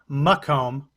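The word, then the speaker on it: Macomb: Bellwether which I was just told I was mispronouncing McComb County Donald Trump is ahead 66.87 that is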